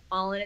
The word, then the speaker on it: Alyn: My brand name is Alyn because phonetically spelled is all-in.